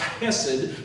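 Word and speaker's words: חסד: It's called chesed, pronounced hesed, which means a grip of grace, and He ain't letting go.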